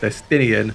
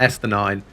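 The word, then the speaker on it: Estinien: comments correcting me that estinian is pronounced destinian not esther nine and they are not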